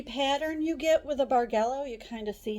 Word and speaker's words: bargello: going to do something called basic bargello it's pronounced bargello I've heard barello I don't care there's no quilt police but the concept is the same okay whether you pronounce it bargello or burello it's the same thing and what we're going